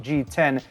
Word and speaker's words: GX: on model 10 so that gx is actually pronounced g10 as in the roman numeral 10.